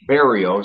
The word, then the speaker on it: Berrio: Well, my real last name is French, and it's pronounced Barriault. In English, it's pronounced Barriault. But there's too many people that pronounce the I-A-U-L-T at the end of it. So I get a lot of Barriault, Barriault. So it sounds, it's Berrio. So I'm thinking, how do I change it?